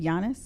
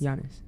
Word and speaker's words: Giannis: Giannis. Giannis.